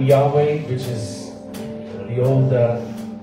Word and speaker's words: Yahweh: even say it and they spelled it YH wh and then it ended up being pronounced Yahweh and uh and I